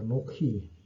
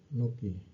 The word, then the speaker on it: אָנֹכִי: Jadi ee kata pertama dari 10 hukum itu dimulai dengan kata anokhi. Ini dimulai dengan kata a anoki. Ini ini cara bacanya ya.